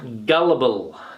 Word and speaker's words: gullible: Gullible. Gullible. Be careful there with the pronunciation as well.